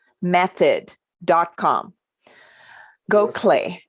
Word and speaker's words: Gokhale: e method dot com go clay is how it's pronounced but it's not it's not phonetic right now if people